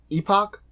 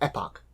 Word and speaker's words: epoch: fourth LP is called epoch or epoch it's pronounced both ways you can do whatever you'd like I'm gonna say epoch so as you can